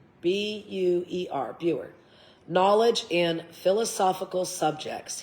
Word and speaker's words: Buer: President Buer, B-U-E-R, Buer, knowledge in philosophical subjects.